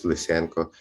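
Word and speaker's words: Lysenko: being surrounded by such Giants for Ukrainian music as licenko and listen the way we pronounce it in Ukrainian and Mozart in the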